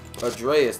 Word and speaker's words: Atreus: Atreus, that's how you pronounce his name.